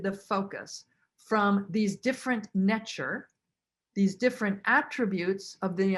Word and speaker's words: ntr: deity and they were called nature ntr but pronounced nature and this is like the true essence of